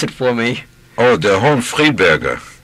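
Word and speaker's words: Der Hohenfriedberger: Pronounce it for me. Oh, Der Hohen Friedberger.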